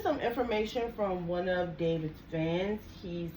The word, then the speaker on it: D4VD: Now, this is some information from one of David's fans. He says, now this is actually from Daily David, and that is daily and spelled like David spells it, D4VD.